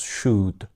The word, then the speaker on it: should: bak should demiyoruz arkadaşlar buradaki l'yi Aslında telaffuz etmiyoruz should şeklinde telaffuz ediyoruz basit düzeyde tavsiye ederken